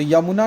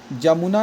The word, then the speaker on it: यमुना: तो यमुना ना बोल करके हम लोग जानते हैं कि नागपुरी व्याकरण में य को ज का उच्चारण किया जा सकता है, तो जमुना नदी कहेंगे।